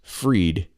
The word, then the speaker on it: Fried: look at the name Bank Man dash spelled fried pronounced freed and he was a